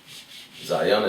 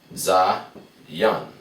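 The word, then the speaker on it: זין: Zayan is written like this. Za, ya, and na. Come together, pronounce Zayan. Zayan.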